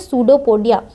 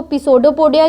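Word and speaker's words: pseudopodia: सूडोपोडिया। इस property को या इस हैबिट को इसका क्या बोलते हैं? सूडोपोडिया। अब तुम बोलोगे इसको पिसोडोपोडिया क्यों नहीं बोलते? क्योंकि पी साइलेंट होता है पहला, सूडोपोडिया बोलते हैं।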